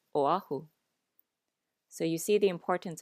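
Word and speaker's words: Oʻahu: remember the okina, because if we don't pronounce the okina, the vowels will glide together when there really should be a separation of the vowel.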